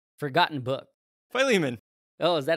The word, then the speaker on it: Philemon: And as he started reading the story, I was like, wait, that's Philemon.